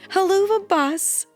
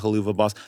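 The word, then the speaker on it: Helluva Boss: Haluva Boss. People still think it's called that. Really? People come up to the table and they call it Hoova Boss.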